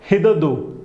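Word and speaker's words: hitherto: Next देखो हिदरदो, हिदरदो, हिदरदो, ठीक है, इसका स्पेलिंग कैसा है, हिट हर टू, पर बोलते हो कैसे बोलोगे, हिदरदो, हिदरदो, ठीक है।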